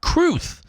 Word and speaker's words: crwth: was told by my producer Cassandra Hammerstone is pronounced cruth um crwth uh which I believe is a